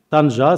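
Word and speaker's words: طنجة: terrestre les ports marocains Tanger Tanja Seb je les prononce en arabe parce que la la disons la la la manière avec laquelle les Français ont ont donné les dominations des villes ne ne convient pas réellement faut parler de Tanja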